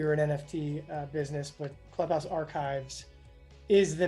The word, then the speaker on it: ClubhouseArc: How am I pronouncing this? Clubhouse Archives.